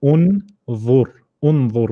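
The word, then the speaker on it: انظر: So it's u, and then the noon should have a sukoon on top. So it should be unzur, which means look.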